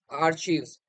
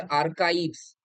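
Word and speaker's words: archives: Next আর্চিভস। ঠিক আছে, actually আর্চিভস আমরা বলতাম, এটার আসল উচ্চারণ হচ্ছে আর্কাইভস।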